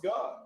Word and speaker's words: Gad: You from Gad. Pronounce God.